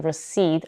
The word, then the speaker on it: recede: two letters are e in recede are pronounced as re with a schwa the same first letters